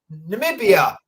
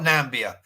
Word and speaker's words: Namibia: Namibia, not Nambia. It's Namibia. Is that how you pronounce it?